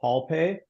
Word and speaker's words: HaulPay: And then our payments and factoring service is called HaulPay, like hauling a load, HAUL pay, HaulPay. And if you Google HaulPay or you Google ComFreight, you'll see our website.